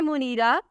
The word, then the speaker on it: Muneera: नाम है मुनीरा, स्पेलिंग है MUNEERA।